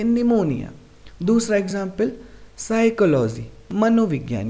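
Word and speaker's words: pneumonia: start हो रहा है बट यहां पर एन से पहले पी आए तो वे साइलेंट रहता है इसलिए हम इसका पेन क्या करेंगे निमोनिया दूसरा एग्जांपल साइकोलॉजी मनोविज्ञान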